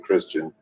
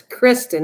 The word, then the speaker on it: Kristen: It says 3 right now, so someone else is here besides me and Christian. Kristen. Yeah, don't say it wrong. Oh my God, it's Kristen, not Christian.